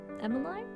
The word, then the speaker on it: Emmeline: story of emmeline burns or emmeline i think her name's pronounced emily so a short summary